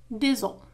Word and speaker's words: des os: Des os العظام des os. لاحظوا هنا des os au pluriel les os. لكن عندما نقول عظم واحد نقول un os عظم. لكن في الجمع au pluriel نقول des os لا ننطق s.